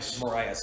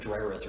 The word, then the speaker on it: Moraes: Moraes. Yeah, I was gonna say Madreris or something like that.